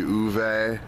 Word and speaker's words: Ove: Hello, I just got back from seeing A Man Called, it looks like it's spelled Ove, but I think it's actually Uve, is how it's pronounced in Swedish.